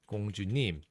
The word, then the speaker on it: 공: So this one has like a G sound. It's a G. So in my name, the 공주님, which if you see in Korean, is actually spelled like 공주님. This first part, 공, if we break it down, 공 has the G sound, and it's not anything else. It's G.